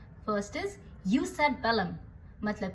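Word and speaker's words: jus ad bellum: तो जस्ट war theory के 3 main components हैं और ये इटालियन टर्मिनोलॉजीज हैं तो इनकी प्रोनाउंसिएशन इंग्लिश से थोड़ी सी अलग है. First is यूस eight बेलम मतलब कि जस्ट कंडीशंस फॉर वॉर.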